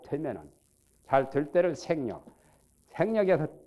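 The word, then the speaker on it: 省力: 명백하고 간이 해서 불방 생력하니 여기는 반성이라는 성자를 발음을 생그래요. 생. 여기서는 성이 아니요. 글자가 한자지만은 때에 따라서는 발음이 달라요. 여기서 생력이라고 발음해야 돼요.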